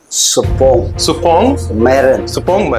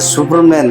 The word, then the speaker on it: Supongmeren: सुपनमर्ग Supongmeren. They do not pronounce my name. They have make a Superman.